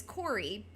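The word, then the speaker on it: Kori: and I mean my my real name is Corey. It's spelled K O R I, which is not a common way to spell Corey.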